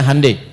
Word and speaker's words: Hyundai: Ya Hyundai saya tahu bahasanya dibacanya Hyundai, ya.